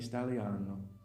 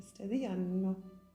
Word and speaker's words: Staglieno: How do you say it in Italian? Cimitero Monumentale di Stagliano. Di Staglieno.